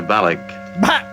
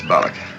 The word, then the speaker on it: Balok: So here's from Kirk. Commander Balak. Balak. Spock says. I regret not having learned more about this Balak. Balak. Uhura says. It's very weak. It's Balak.